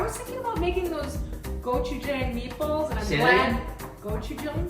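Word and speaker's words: gochujang: I was thinking about making those gochu jang meatballs. And I'm glad go this every time. Spell it.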